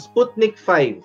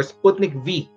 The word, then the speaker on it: Sputnik V: Nag-volunteer ang Pilipinas na sumali sa phase 3 clinical trials ng Sputnik 5 or Sputnik V. Dalawang pronunciation eh.